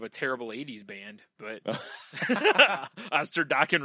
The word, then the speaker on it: Osterdokken: Oh, I was thinking of a terrible 80s band, but Osterdokken rhymes with rockin'.